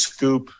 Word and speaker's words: Schoop: I've heard it as Scoop. Yeah. I've heard it as Scoop. I've heard it as Scoop. Scoop. I just say Jonathan Schoop.